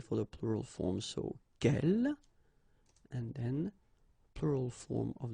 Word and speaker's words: quelle: good news is that if you listen carefully, quelle, quelle, quelle, quelle, okay, so phonetically you get only one form. Of course, when you get this S, well, if you've got a vowel after, then you will have to make this liaison. But then, clearly, the basic form like that, phonetically it's the same, okay?